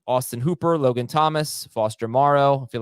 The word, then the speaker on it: Moreau: month and then uh Foster how do you pronounce last name Morrow all right Foster Moreau um when he's taking on the Seahawks you